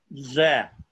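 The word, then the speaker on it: זה: This is pronounced zeh. इसको हम pronounce करेंगे ze. That hey is a vowel letter. It's a sagol hey on the end.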